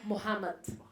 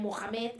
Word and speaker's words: Mohammed: Ai, s'ha de pronunciar Mohammed. Nosaltres sempre diem Mohamed, és Mohammed.